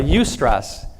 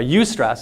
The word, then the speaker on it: eustress: There's a different type of stress, and it's called a eustress.